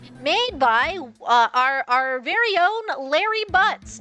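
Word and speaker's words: Larry Butz: The clock itself, made by our very own Larry Butts. Not Harry Butts, though that is a common mispronunciation that we used to torture him with in elementary school.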